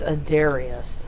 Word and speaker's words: Adarius: would be justified uh actually it's a Darius I said it wrong I added an L um so the siblings